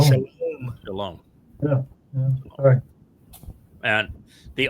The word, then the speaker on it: Shalom: And the overwhelming percentage of the time, about 90% of the time, it's pronounced as O as in shalom.